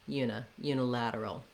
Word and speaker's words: unilateral: I just want to have my length and stress here on the lad, so that unstressed reduced vowel is very short, unilateral.